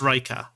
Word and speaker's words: Reicha: So it's pronounced Reicha. Reicha7. Now, I actually have a command for this as well. Everybody pronounces it different. No one has ever pronounced... I mean, a few people pronounce it correctly.